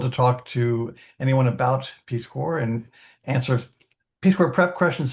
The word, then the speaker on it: Peace Corps: So, because I don't want to assume that folks know what PeaceCore is and it's Peacecore, the S is silent.